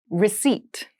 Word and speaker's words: receipt: Receipt. Receipt. Receipt. Receipt has a very interesting spelling. There is a P in the spelling of this word, but we do not pronounce it.